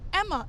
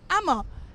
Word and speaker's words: Ama: So I used to be like, my name is Amma, A-M-A. She'll be like, Emma. I'm like, no, Amma.